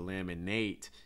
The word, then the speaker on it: laminate: me like laminate laminate notice that the last ate gets reduced to like a short eye so instead of laminate it's more laminate laminate flooring laminate flooring